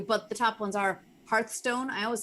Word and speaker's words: Hearthstone: could go through but the top ones are hearthstone i always say that wrong is that correct